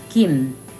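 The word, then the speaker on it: 김: hmm just like an M so altogether it's Kim Kim Kim Kim Kim Kim the second syllable is numb and the first letter is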